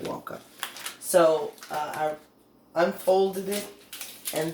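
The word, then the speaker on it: Wewalka: Wawaka, that's how you pronounce it, Wawaka.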